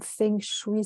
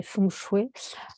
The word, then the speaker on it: Feng Shui: d'énergie possible le terme Feng Shui ça veut dire vent et eau donc je le prononce à la française mais sinon c'est fondu et voilà voilà ça